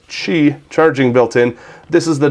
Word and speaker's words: Qi: 920 that has this key inductive charging built in or I pronounced it wrong again how about that this Chi charging built-in this is